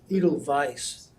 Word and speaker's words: Edelweiss: It's gonna be It's Edelweiss. The Edelweiss. W is pronounced as a V in German.